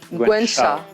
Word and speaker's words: Gwen Shaw: Ah, tu l'as pas bien prononcé. Gwen Shaw. Shaw. Voilà, c'est Gwen, quoi.